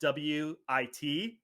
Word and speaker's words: Witchu: Make It With Chew, which that is spelled WITCHU.